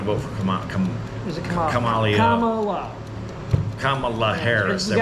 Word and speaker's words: Kamala: not going to vote for Kam is itala Kamala pronounced it right I've seen her on The View